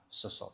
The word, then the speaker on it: Cecil: Chairman, in Cecil. Did I say it right? Cecil.